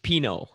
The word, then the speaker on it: Pineault: It's like the wine, Pinot, like Pinot No.